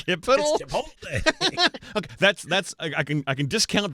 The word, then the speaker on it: chipotle: Yeah, he says chipital, and I'm like, it's not chipital. What is chipital? That's chipital. It's chipotle.